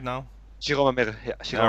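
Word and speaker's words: 白間美瑠: But the members there is like I'm getting more like a Shimari Meru is or am I saying it right now? Shiroma Meru.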